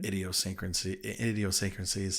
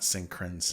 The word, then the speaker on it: idiosyncrasies: it comes to the idiosyncrasies. Oh yeah. Am I saying that right? Is there an N in there? Idiosyncrasies. SYN. Yeah, Syncra. Yeah. Syncrasies, yeah. Not synchronsies.